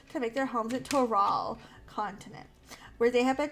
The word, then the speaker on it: Tural: Because you know she ain't gonna pronounce it right. It's Toral.